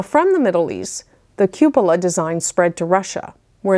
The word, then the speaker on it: cupola: is called a cupola hopefully I'm pronouncing that correctly I thought it was couple of but I do believe it's cupola they're usually bulbous or